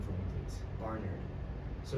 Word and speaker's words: Barnard: Yeah, it's Barnard. You don't So- enunciate the A so much. Yeah. So the first AR is spelled like is pronounced like AR. Yeah. Then the second AR should be an ER.